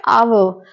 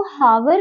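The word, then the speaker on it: hour: पर अगर हम देखें ये जो एच है ये साइलेंट होता है ये अपना साउंड नहीं देता है तो यहां पर हम इसको हावर नहीं करके आवर करते हैं तो यहां पर ये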